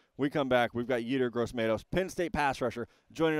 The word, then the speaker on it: Yetur Gross-Matos: Yetur Gross-Matos.